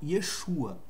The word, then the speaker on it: Yeshua: Messias se dirigiam a ele ou seja por Yeshua não existe nenhuma outra pronúncia em Israel hoje dos crentes lá daqueles